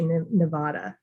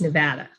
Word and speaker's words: Nevada: really protective about the way that we you pronounce the name of our state because a lot of people say nevada and it's nevada and so um that's that's huge we even